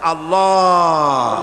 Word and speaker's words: আল্লাহ: পাকের নামের উচ্চারণ হচ্ছে আল্লাহ মুখটা একটু গোল হয়ে যাবে বলেন আল্লাহ আল্লাহ সুবহানাল্লাহ